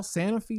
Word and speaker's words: Sanofi: is sanofi how do you say it paul sanofi sanofi what the heck yeah by the way